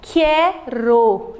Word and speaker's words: quero: Quero. Então, quando eu falo a palavra quero, é como se o U não estivesse sendo pronunciado, estivesse só o Q e o E ali.